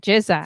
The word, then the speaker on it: GZA: jiza or gz jiza jiz jiza that's it jiza okay I only listened to a few tracks